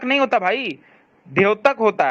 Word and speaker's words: द्योतक: द्योतक नहीं होता भाई, द्योतक होता है। तुम्हें जब वर्ण उच्चारण नहीं पता है बेसिक, तो तुम क्या ज्ञान देते हो?